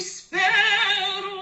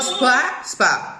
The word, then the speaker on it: spero: A chi spero. Don't go spa, spa. They are effortless. Spero. Exactly. Faster, more forward.